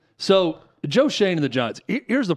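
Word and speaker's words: Joe Schoen: Giants uh Joe Shane yeah that how you pronounce his name so Joe Shane and the Giants here's the problem with all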